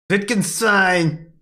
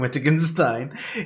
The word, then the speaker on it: Wittgenstein: I'd just like to say, not Wittgenstein, as how I used to pronounce his name before I heard anyone else say it.